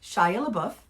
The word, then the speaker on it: Shia LaBeouf: And Shia LaBeouf, Mm-hmm. is that how it, did I say it right? Yeah, Shia Shia LaBeouf.